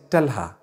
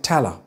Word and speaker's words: Talha: People are going to say Talha, Talha. Some might say Tala. I've heard people say Tala in the UK.